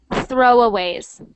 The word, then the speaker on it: throwaways: ways yep so that make sure you've got the th sound it is not throwaways it's throwaways throwaways throwaways there that's that's much better you don't want you don't ever want it to sound like T like throw throw it must